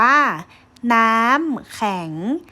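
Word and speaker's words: น้ำแข็ง: คะ แล้ว ก็ แข็ง คำ ว่า แข็ง สระะ เขา จะ แปลง ร่าง ใช่ ไหม คะ เมื่อ มี ตัว สะกด ถูก ต้อง ไหม ลูก ก่อน อื่น ให้ หนู นำ สระ แอ มา เกาะ นะ คะ แล้ว ก็ ขอ ไข่ ตัว สระ อะ แปลง ร่าง เป็น ไหม ไต่ คู้ อยู่ ด้าน บน ของ พยัญชนะ ต้น ตาม ด้วย ตัว สะกด คำ นี้ อ่าน ว่า น้ำ แข็ง น้ำ แข็ง น้ำ แข็ง ตรง กับ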